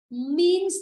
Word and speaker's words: means: Means of transport, means of transport. Chữ sơ đừng với chữ nơ đọc là âm z.